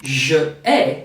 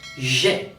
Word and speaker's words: j'ai: It's not je ai, but j'ai.